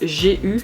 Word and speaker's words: GU: GU, donc G-U, qui se prononce GU à l'anglaise.